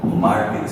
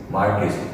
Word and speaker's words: Marquis: ठीक है, एक अमेरिका में बहुत ही फेमस एक बुक आती है MARQUIS, मार्केस, इसका प्रोनाउंसिएशन है मार्केस, और इसकी बहुत जो फेमस बुक है उसका नाम है who's who।